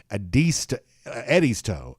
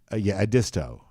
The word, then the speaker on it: Edisto: Okay, so Jeff says it's actually pronounced Eddie's toe. Eddie, is that right? Or are you just pulling my leg? No, Ron says the same thing. Yeah, Edisto.